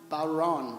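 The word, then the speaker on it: bodhrán: Bert Baldarelli on percussion, or Bodran, that's how you pronounce it? Bowron.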